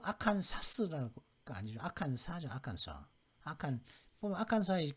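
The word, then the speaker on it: Arkansas: 아칸사, 일리노이, 캔사스는 S, 그죠? 매사추, 텍사스. S로 끝나는 주는 지금 5개 주가 있거든요. 아칸사스 부르는 아니 아칸사라고 하거든요. 그다음 일리노이스가 아니라 일리노이까지만 발음하면 되는데 이건 아칸사죠.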